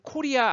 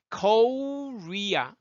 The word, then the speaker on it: Korea: 여러분 코리아 아니죠? Korea. 그 원어민들은 코 이 발음을 못 해요. 코 해보세요. 그러면 KO 발음을 어떻게 해요? 코 이렇게 휘어지죠 발음이. Korea. R 사운드 앞에 어떻게 해요? 우 하듯이 한다고 그랬죠. 그래서 Korea 이렇게요.